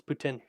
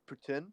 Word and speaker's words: poutine: it no it's Putin it came from Quebec and that's how you pronounce that but yeah a lot